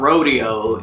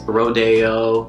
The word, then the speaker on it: Rodeo: release pronounced Wilshire and it's not rodeo its rodeo that's a little bit